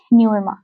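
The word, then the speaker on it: Nguema: तो गैबोन देश का राष्ट्रपति जो है वो ब्राइस ओ ओलगुई न्यूमा ये जी साइलेंट है तो ब्राइस ओ ओलिगुई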